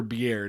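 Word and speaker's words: Beaird: I don't know if it's Beard or Beard because there's an extra I in there. It's pronounced Beard.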